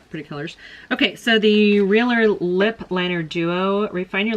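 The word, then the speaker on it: Realher: Now, next thing in here is the Realer Lip Liner Duo. I've got this before. It's spelled R-E-A-L-H-E-R. Realer. All right, and it's a lip liner duo.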